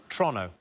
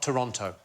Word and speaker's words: Toronto: So it's Toronto, not Toronto. Oh, is it? Toronto.